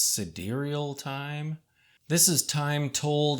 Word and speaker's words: sidereal: for this next one I'm pretty sure that I've always been mispronouncing this word in my head I don't think I've ever actually said it out loud but this is the sidereal time I always thought it was side real but I think